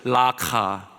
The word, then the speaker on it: 라카: 쓰였던 아라모 욕설이었다고 합니다 좀 더 정확하게 이걸 발음하려면 라카입니다 라크 한번 따라해 보세요 라카 뭐 이렇게 열심히 따라하세요 그렇게 할 것도 아닌데 라크 하란다고 다 정말 우리 성도를 착합니다 여러분이 아람어를 제대로 발음하려면 목을 긁어서 가래침을 뱉듯이 이렇게 나오는 소리예요 라크라는 것이 의성어에 가깝습니다 이런 거예요 그럼 가르침 뱉을 때 그러잖아요 그것이 라카입니다 사람의 이름을 부르지 않고